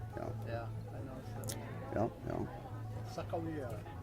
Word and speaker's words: Sakakawea: Sakawia. Sakakawea is what they think the way it was really And pronounced.